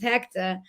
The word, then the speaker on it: Hector: and I wanted to make sure everybody said it like we would say it at home, which is Hector. So it's spelled HECTAH.